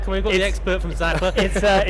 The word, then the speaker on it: Sachtler: Sachtler.